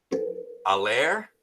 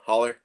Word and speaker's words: Haller: Allaire, that's how you say his name. Haller. Both or neither? Well, I'm gonna say like American Holler. Just kidding. Haler would be good.